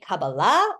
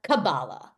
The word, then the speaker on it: Kabbalah: First of all, you can say Kabbalah or Kabbalah. They're both correct. Kabbalah, Sephardic pronunciation, Kabbalah, Ashkenazic pronunciation.